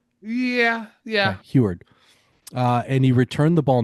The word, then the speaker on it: Huard: I've read it, but I don't know how to pronounce it. Heward? Huard? Yeah. Okay, Heward.